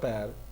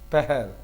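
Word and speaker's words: پہر: So don't you can use good afternoon, and you can also use seh per, not per, peher, seh peher bkhair.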